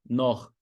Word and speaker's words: Noch: CH em alemão, anota essa regra. CH, depois das vogais A, O, U, é um rasgadinho.